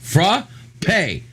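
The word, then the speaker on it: frappé: this exact thing yes with the accent over the e that makes it sound like an a so that's frappe yes but read what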